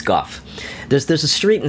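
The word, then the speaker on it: Gough: I think it's Goff. There's There's a street in San Francisco in the hate. G O U G. And that is pronounced Goff.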